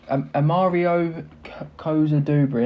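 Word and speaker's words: Amario Cozier-Duberry: Amari Kusbury co Amario Kosa Dubri. There we go. That's how you pronounce it.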